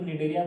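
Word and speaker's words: Cnidaria: उसके बाद आता है निडेरिया, सी साइलेंट है यहाँ इसलिए इसको निडेरिया पढ़ते हैं।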